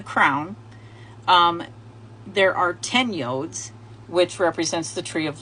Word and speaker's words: yod: of the letter yod the Hebrew letter yod which is pronounced yah and according to the